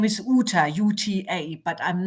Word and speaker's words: Uta: My family name is UT uta, but I'm not too fussy about that.